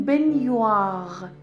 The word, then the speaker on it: baignoire: در مورد تلفظ بنیوار میدونید که ا در مجاورت ای توی آوای حروف ترکیبی صدای ای باز میده. هر موقع ژ داشتید بعد ان داشتید پشت سرش صدای نیه میده. به این ترتیب ما این رو تلفظ میکنیم la baignoire. La baignoire.